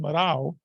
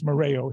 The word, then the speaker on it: Moreo: And as I was sharing earlier, in Portugal, it actually should be pronounced Marao. My grandparents Americanized it, and it's Moreo here.